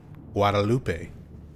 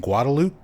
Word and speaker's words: Guadalupe: a Spanish speaker, you would probably want to pronounce it Guadalupe because that's how it's spelled.